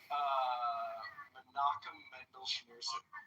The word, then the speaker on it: Menachem Mendel Schneerson: Menachem Mendel Schneerson.